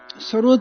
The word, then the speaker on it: सरोद: और सरोद का भी जो उच्चारण है, असली प्रोनाउंसिएशन, वो सरूद है।